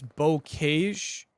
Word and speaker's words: Bocage: I believe it's Bocage. Bocage? Okay. But I'm not 100% on that. Bocage, according to Jim's. That's what we're going to say for the rest of the map here. Bocage.